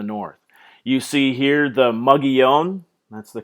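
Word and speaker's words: Mogollon: there in the north you see here the muggy own that's the correct pronunciation for the in the region mogul yawn in Spanish there in the area of southeastern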